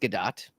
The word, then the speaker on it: Gadot: You're talking about Gal Gadot, and it is actually pronounced Gadot, as I read online and discovered, much to Steve Hovecki's chagrin many years ago.